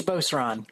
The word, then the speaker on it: Beauceron: Shipley, I'm not sure if I'm pronouncing this correctly, if it's Beauceron or Beaucran. I'll let you clarify that for us when the time comes. Would you take the opportunity now? Which is it? It's Beauceron. Beauceron.